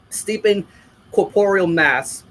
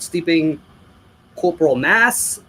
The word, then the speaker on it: Steeping Corporeal Mass: This is one of those albums where everybody gets the name wrong. Some people call it Steeping Corporal Mass, Steeping Corporate Mess.